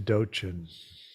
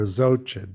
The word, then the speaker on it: Dzogchen: As we like to say, all roads lead to Dochin. Or Dzogchen, depending on how you pronounce it.